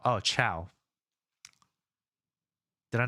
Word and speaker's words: ciao: Uh Playful Cheetah says it's pronounced ciao. Oh, ciao.